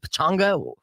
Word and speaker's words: Pachanga: What Pachanga? What am I saying it wrong? And what is that? Is that edible? No, your pronunciation is perfect.